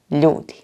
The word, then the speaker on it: ljudi: Here is the correct way to say them. The plural of čovek is completely different. Ljudi. Tamo su ljudi.